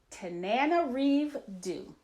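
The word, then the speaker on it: Tananarive Due: some research I'm like I'm gonna pronounce man correctly its Tanana Reeve do and she wrote the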